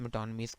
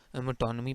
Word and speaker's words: metonymy: तो इससे मेटोनमी पढ़ते हैं, मेटोनिमी या इस तरह की प्रोनाउंसिएशन नहीं है। या गूगल पे अगर देखेंगे तो मिटोनमी भी मिल जाएगा। अदरवाइज़ जो ऑक्सफोर्ड में है ब्रिटिश और अमेरिकन इंग्लिश, वो उसके लिहाज से मिटोनमी या मिटोनमी।